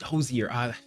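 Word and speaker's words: Hozier: Hosier or Hoser is how I would have pronounced it. Hosier. There you go.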